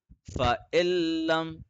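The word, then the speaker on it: فإن لم: Fa illam, again I will repeat, lam has a shadda on it, noon has a sukoon on it. Shadda is more powerful than sukoon, that is why noon is silent.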